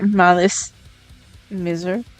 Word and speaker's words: Malice Mizer: I never know how to say their name, but I I say Malice Mizer and they're so good.